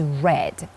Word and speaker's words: read: the verb read is read it's a not a usual verb because it is spelled in the same way but pronounced a bit differently read read therefore the